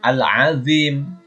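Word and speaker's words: العظيم: Membacanya Al-Azim.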